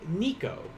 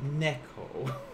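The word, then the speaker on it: ねこ: joking or not but he said instead of for cat he said nico but it's actually neko and i i like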